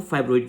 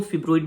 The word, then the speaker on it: fibroid: Pronunciation क्या सही है, देखिए जनरली जो है वो हम फाइब्रॉइड यूज़ करते हैं, बट अगर हम यूके इंग्लिश में अगर हम देखें ना तो उसको हम फिब्रॉइड भी बोल सकते हैं।